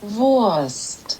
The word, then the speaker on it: Wurst: the speed of this in german it's like the w is kind of like a v so voice it's like a soft v worst you see this